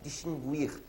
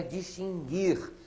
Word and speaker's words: distinguir: Essa é perigosa que muita gente por aí fala distinguir a pronúncia não é essa tá bom gente a pronúncia é distinguir sem pronunciar a letra U bom já colocamos logo